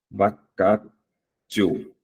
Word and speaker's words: vacatio: Vacatio. É porque a pronúncia que é vacatio.